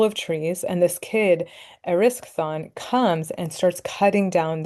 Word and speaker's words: Erysichthon: Let me tell you about this kid and his name is pronounced Erysichthon Erysichthon.